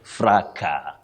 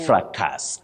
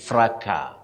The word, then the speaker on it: fracas: surprise to many people, the S is not pronounced when you deal with a singular form. You say fracas. Not fracas, as we commonly say. It's fracas.